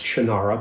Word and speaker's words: Shannara: of the shinara series i know you pronounce it differently but you're wrong it's shinara that's what should be pronounced so again congratulations i